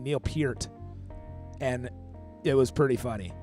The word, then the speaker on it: Peart: You don't spell it like Peart, but people love to say like Neil Pierre with a T at the end. Neil Peart.